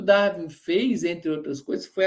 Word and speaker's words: Darwin: está aí também, sempre fala isso, que o Darwin fez, entre outras coisas, foi aplicar o uniformitarismo do Lyell à biologia.